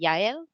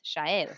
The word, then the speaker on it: Shael: on my identification so if you looked at my name it would just look like um but in mexico they would pronounce it yayo but in argentina where i'm from it's chair so this is magic and then here people would just say so it's just been